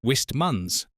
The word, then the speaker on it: Wistman's: Pronounced Wistmuns from the Devonshire dialect word wisht, meaning eerie, uncanny, or pixie-haunted.